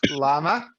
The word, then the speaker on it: llama: Maybe it's made of llama fur. That's why they call it a yarmulke. That's the. But yeah, double L in Spanish is pronounced with a Y. So they're all wrong, and it's a llama.